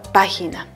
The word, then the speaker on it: página: Ahora, de las tres, ¿cuál está llevando la fuerza de voz? ¿Cuál la pronunciamos con mayor fuerza? Sí, muy bien. La pronunciamos la sílaba pa.